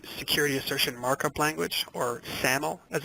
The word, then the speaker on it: SAML: The final thing I'll mention here on this slide is that ArcGIS Online supports Security Assertion Markup Language, or SAML as it's pronounced, for configuring enterprise logins.